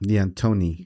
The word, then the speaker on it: Deantoni's: DeAntoni's. DeAntoni's. It sounds a little Italian, but it's not.